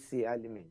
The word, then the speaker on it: Bisi Alimi: Is that how I pronounce it? Yes. I got it right? It's Bisi Alimi. Bisi Alimi.